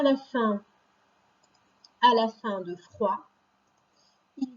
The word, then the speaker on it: froid: par exemple, de l'eau froide. Et bien ici, le glaçon est froid, donc on n'entend pas le D, mais il est déjà prêt pour s'il y en a besoin après.